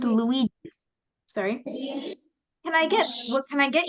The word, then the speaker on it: Luigi's: It's pronounced Luigi's.